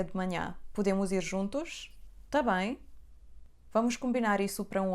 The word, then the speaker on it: também: frase tá bem vem do verbo estar.